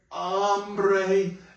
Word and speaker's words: hambre: So, tengo, when you say what looks like hambre, which means hunger, you just drop the H. All H's are pretty much silent in Spanish. So you're going to go, tengo hambre.